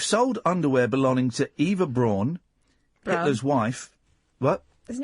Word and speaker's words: Braun: It's pronounced Braun. Eva Braun.